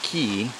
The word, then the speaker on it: Cay: se llama Hoffman Hoffman Ke se escribe c o c a y pero se dice K no y es y